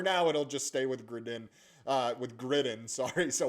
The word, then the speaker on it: Gridin: So, Griden is kind of the way we'll say it going forward, but we've heard Grid Den, we've heard Griden. Um, Gridden, I guess, is the most North